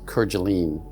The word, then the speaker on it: Kerguelen: Today's presentation is on a very remote location in the Indian Ocean, Kerguelen Island. Some pronounce it Kerguelen.